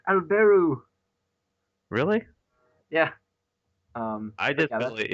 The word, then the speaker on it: Albert: They're pronouncing it in English, and it's Alberu.